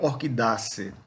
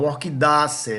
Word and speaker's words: Orchidaceae: Ou então, todas as famílias são terminadas em acer. É assim que a gente pronuncia. Então, Orchidaceae, Musaceae, que é da